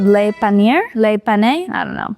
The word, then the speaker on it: Le Panier: go check out an old neighborhood now called Panier. Panier. I don't know how you pronounce anything. It's French, but you know. So we're gonna go check that out, see how that's supposed to be. Pronounced Le Panier, this is actually the oldest part of town.